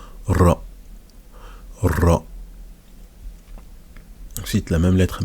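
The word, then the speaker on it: راء: Ensuite, on a la lettre ra. Il faut rouler un peu. Ra.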